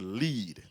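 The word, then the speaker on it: lede: news story is the lead it's l e d pronounced lead the first sentence or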